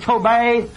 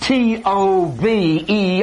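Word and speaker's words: טוב: particular word, the word tove, and it's pronounced T-O-V-E, or tov, or tove. That's what it's pronounced.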